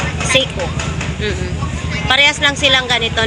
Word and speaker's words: Seiko: Ano bang talagang pag-pronounciation? Seo. Pycho Seo Seiko.